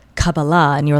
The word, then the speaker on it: Kabbalah: Um, cababala, the correct way to say it, or cabala as many often call it, is spirituality at a root level.